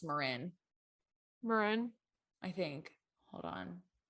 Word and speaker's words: Marin: It's actually pronounced Marin. Marin. I think. Hold on. Yeah, Marin. Yeah, it is Marin.